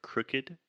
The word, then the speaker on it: crooked: I feel like I should just jump in really quick to talk about the word crooked. Crooked. First, this is what we call the other U sound. The vowel is crooked.